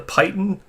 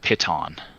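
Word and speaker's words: piton: this is cool the pitan this is neat we saw the terrain here now I think I think that's pronounced pitton pitton yeah I know what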